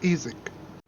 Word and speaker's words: Isaac: You said your name was Isaac. Yes, Ezek.